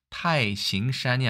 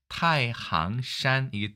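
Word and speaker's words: 太行山: 보통 태행산이라고도 하고 태항산이라고 하는데 이게 발음 중국어로 타이싱산이 아니라 타이항산이기 때문에 아마도 항으로 읽는 것이 더 맞을 것이다 생각이 듭니다만 어쨌든 태행산,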